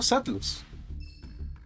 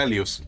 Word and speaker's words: Alius: Un Bestial y un Elemental Hero Neo Satlus. Lo pronuncié horrible, era Alius, casi.